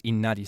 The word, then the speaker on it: Inari: I think it's Inaris Sama, right? Not Inari. I can't I can't remember which syllable is the stressed one, but you do it like the fox rather than like a person's name, right?